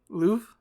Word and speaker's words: Louvre: i'm always terrified yeah that would be the louvre louvre yeah that r doesn't do anything i i mean i think it gets a tiny bit like flavor to the e like louvre like it kind of